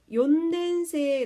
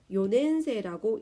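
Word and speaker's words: 四年生: 쉬워 리 라고 하죠 그런 것처럼 일본 사람들도 욘 낸 새해 라고 하면 발음이 편하 같지않은 겁니다 좀 더 편하게 하기 위해서 요 냄새라고 이렇게 만들어 버린 겁니다 그다음 여기는 나오지 않았지만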